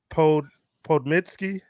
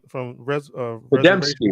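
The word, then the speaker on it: Podemski: I wanna Sarah Podmitsky. Is that how you say her name? From Podemsky, yeah, Sarah Podemsky.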